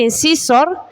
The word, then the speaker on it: incisor: Los de adelante son los incisivos, que en inglés se escribe así y se pronuncia incisor.